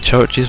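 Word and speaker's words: CHVRCHES: justice CH churches or I know it's pronounced like churches but it's got VR and years and years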